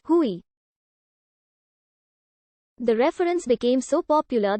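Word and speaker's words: Huey: from its hu1 designation which came to be pronounced as hui the reference became so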